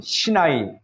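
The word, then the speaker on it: סיני: 우리가 호렙산을 다른 말로 시내산이라고도 부르는데 히브리어 발음으로는 신나이 그래서 신나이 반독 시내산이 있는 그 광야를 말합니다.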